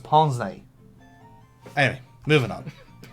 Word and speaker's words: pince-nez: She should know it's pronounced pince-nez.